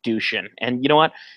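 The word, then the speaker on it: Dušan: First of all, his name is not spelled this way, but his name is Dushin. It's D-U-S-A-N, but I guess they pronounce it in the movie Dushin.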